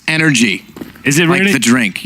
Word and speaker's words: NRG: nothing for NRG yeah which is actually pronounced energy is it ready to